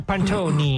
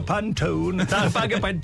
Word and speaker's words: Pantone: sia Pantone it Ah sì Pantone forse diranno pantoni pant aspetta Pantone Pantone Adesso vediamo se è